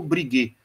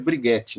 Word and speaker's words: Briguet: Tem um autor, por exemplo, que eu até indico, é um cronista, chamado Paulo Briguet. Briguet se escreve Briguette, né? Com a pronúncia francesa.